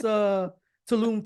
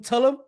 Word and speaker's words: Tulum: I like when people want to pronounce Tulum Tullum. Tullum.